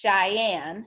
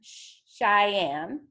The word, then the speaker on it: Cheyenne: Olympia Nevada Carson City Montana Elena Wyoming it's pronounced Cheyenne Cheyenne Idaho Boise Utah Salt Lake City Colorado Denver